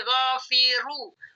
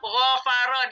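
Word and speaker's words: غَفَرَ: yang ini tidak berubah-rubah gfaro tidak boleh dibaca jadi gofiru eh gfiro enggak boleh ini bacanya tetap gofaro di manaun posisinya yang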